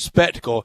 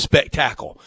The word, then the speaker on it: spectacle: he does it, and he pronounces spectacle as spectacle. The NFL has managed to make a spectacle out of everything, and they want to. I think he's emphasizing the wrong syllables there.